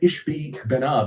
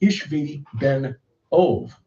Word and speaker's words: Ishbi-Benob: And I think the clue is in the name of this guy, Ishbi-Benob, which actually should be pronounced Ishvi-Ben-Ov. And that second part of his name should be split.